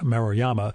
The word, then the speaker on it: Maruyama: media appearances and more she's also on twitter and instagram as kate marayama and that's all one word spelled the same way throughout k a t e m a r u y a y-a-m-a oh and i'll have